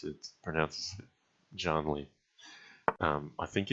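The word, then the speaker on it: Jann Lee: Rhyming with can or Jan. No, I say Janly.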